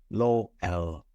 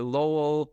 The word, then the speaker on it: Lowell: Well, I pronounce it Lowell. Folks in Europe pronounce it Lowell, and folks down in New Zealand pronounce it Lowell. So all are acceptable.